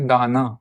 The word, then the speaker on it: दान: जिस वोवेल पर भी यह शॉर्ट डश लगा है उस वोवेल को you have to pronounce it little लगर। For example this is pronounce as दाना।